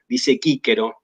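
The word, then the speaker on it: Cicero: Claro, la pronunciación restituta, la pronunciación clásico restituta, por ejemplo, dice quíquero, ¿no?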